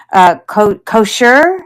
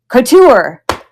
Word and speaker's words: couture: Kosher? No, that's not right. It's a French word, right? Couture.